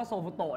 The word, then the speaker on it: โซฟูโตะ: โซฟูโตะ โซฟูโตะ ครับ ผม คำ ว่า โซฟูโตะ เนี่ย มัน เป็น การ ออก เสียง แบบ ภาษา ญี่ปุ่น นะ ครับ ถ้า ออก เสียง เป็น ภาษา อังกฤษ เขา จะ เรียก ว่า Soft ครีม ที่ั คือ ร้าน เย